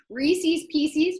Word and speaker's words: Reese's Pieces: We have Pop Rocks, Milk Duds, Payday, Razzles, Nerds, Crunch, Mike and Ike's, Mounds, Reese's Pieces, which is how you pronounce it, and Charleston Chew.